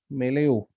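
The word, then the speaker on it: milieu: इन द मेला, इसका इसको कैसे वो करेंगे, प्रोनाउंस करेंगे? मेलेयू।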